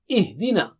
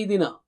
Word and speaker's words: اِهْدِنَا: Ihdina. Don't say idina. Okay. Again, hamza should be very clear and har sound also should be very clear.